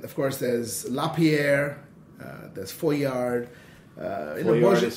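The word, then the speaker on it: Foillard: And of course there's Lapierre, there's Foyard. Foyard is spelled how?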